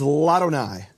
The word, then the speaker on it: Ladonai: La Adonai becomes Ladonai. And what happens is the vowel drops from the aleph, and the aleph is silent.